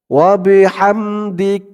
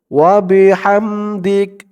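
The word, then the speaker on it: وبحمدك: দিলাম সুবহানাকা আল্লাহুম্মা ওয়াবিহামদিক থামলে উচ্চারণটা হয় ওয়াবিহামদিক থামার কারণে শেষের যে অক্ষরটা মানে যে আমরা থামলাম থামার যে শেষের অক্ষরটা অক্ষরের উপরে যে এই যে দেখুন জবর আছে এখানে এই জবরটা সাকিন হয়ে যাবে তার আগের অক্ষর দাল দালের নিচে জের কাফকে ধরলে যেমন উচ্চারণ হয় এখানে থামার কারণে সেম তেমন উচ্চারণ হবে দিক দিক দাল কাবজের দিক থামার কারণে এই উচ্চারণটা হবে না থামলে ওয়াবিহামদিকা এমন উচ্চারণ হতো ওয়াবিহামদিক থামলে এমন উচ্চারণ করবেন তারপরে এখানে তাবারকাস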